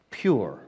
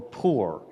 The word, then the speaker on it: pur: And that word is a pur, or a P-U-R, pure, or poor, however you want to pronounce it.